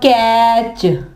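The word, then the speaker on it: catch: इसके अलावा कैच, कैच में भी टी आता है ना, लेकिन यहाँ पे टी साइलेंट होगा, तो टी जो है वो नहीं पढ़ा जाएगा।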